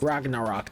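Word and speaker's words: Ragnarök: Ragnarok, that's what it's pronounced.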